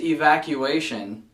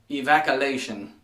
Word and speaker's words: evacuation: this way before but the word is evacuation not evaculation it's funny as hell to pronounce it the other way but it's definitely not correct anyways guys I hope